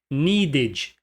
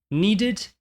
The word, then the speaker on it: needed: Esse E não é pronunciado como um E. Esse é um erro clássico. Needed, wanted, waited. Não se pronuncia o E. Needed, wanted, waited.